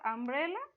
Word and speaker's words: umbrella: and and what's for umbrella u u sounds like a sound not u so u have two